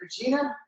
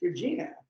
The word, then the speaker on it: Regina: They kept saying the name of the band or the name of the town rhymes with fun. It rhymes with fun. I'm like, it's Regina.